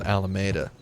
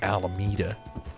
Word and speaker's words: Alameda: So there's a town in the San Francisco Bay Area called Alameda, and everyone pronounces it Alameda. Yeah. And it's like, man, it's clearly Alameda.